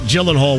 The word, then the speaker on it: Gyllenhaal: hear jmv say jake gyllenhaal one more time i'm gonna drive off the road i'm 98 sure it's a g and not a j i'm snooty i'm being